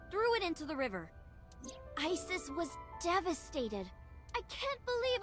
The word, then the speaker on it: Isis: Horus's mom is named Isis. But in ancient Egyptian, it's pronounced closer to Ise or Asa.